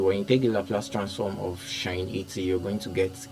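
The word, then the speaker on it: sinh: pronounce um signage as shine okay you pronounce it as shine so when integral Laplace transform of shine 80 you're going to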